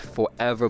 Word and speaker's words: ForeVR: all the forever games I want to say forever it's spelled for VR um just in case there's